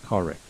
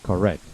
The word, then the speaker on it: correct: Please do not say correct. Okay, this is a very common error that my students make. So the correct pronunciation is correct.